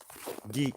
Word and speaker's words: Guigues: Geek. What is it? Guigues or something? I think that's how they pronounce it in French. Geek.